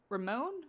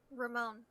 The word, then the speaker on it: Ramon: spelled r-a-m-o-n is it spelled or is it pronounced ramon or rahman it's ramon ramon okay i've always thought that ramon had